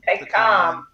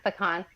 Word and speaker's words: pecan: like, okay, I want nut, and I like pecan nuts or pecan. How do you pronounce it, Melvin? Pecan. Yes. Okay. Pecan.